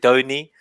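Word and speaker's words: Donie: Is it Donny? It's Donny. Okay, I'm checking. Donny. I'm bad with these pronunciations. It's like the sound of music. Do a deer. So it's Donny. Do re ni.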